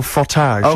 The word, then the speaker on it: frottage: some special some special frottage on or special frage is how correctly pronounced is that Mutual doing